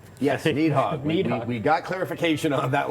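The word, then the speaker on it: Nidhogg: of that and um uh nehog as it's pronounced need hog yes need hog we got clarification on that last week I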